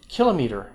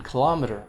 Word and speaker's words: kilometer: ago pangea you know why is that then kilometer in kilometer both pronunciations are okay in english when i was